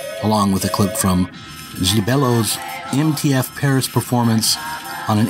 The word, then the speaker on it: Gibello: Gibello.